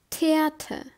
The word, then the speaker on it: Theater: photosynthesis it means photosynthesis are pronounced like the first letter of the word tomorrow for example theater it's a theater or